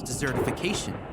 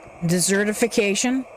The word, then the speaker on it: desertification: states to slow Corel's desertification. Desertification? What's it gonna be, a baked Alaska? The key here is he pronounced it more like dessert than desert. Desertification would be desert. Desertification is dessert.